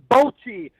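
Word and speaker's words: bocce: white ball the Big Balls bot yeah bot bot ball yeah wrong it is pronounced bchi not bot I no shut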